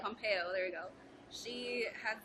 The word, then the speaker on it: Pompeo: us what's going on about Gray's Anatomy cannot pronounce her last name last name Pompeo Pompeo there you go she has done like Gray's